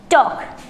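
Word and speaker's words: talk: Condition second कहती है कि अगर स्पेलिंग में L के बाद K हो तो वहाँ L साइलेंट रहता है। अब इसके एग्जाम्पल्स देखो। एग्जाम्पल्स है यहाँ पर आपका T, A, L, K, इसको क्या पढ़ोगे आप? टॉक।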